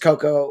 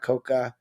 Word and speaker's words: Coco: It's just Coco with uh No A. It's not Cocoa.